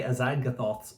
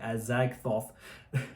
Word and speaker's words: Azagthoth: That's one thing I haven't mentioned is Trey Azagthoth. That's how you say it, Azagthoth.